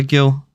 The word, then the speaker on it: Gil: it's w back by Gil I think it's Hill actually because he's Spanish um I might have